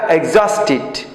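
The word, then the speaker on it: exhausted: Tired মানে ক্লান্ত, এটা হচ্ছে ওয়ারি বা এক্সস্টেড, উচ্চারণটা এক্সস্টেড।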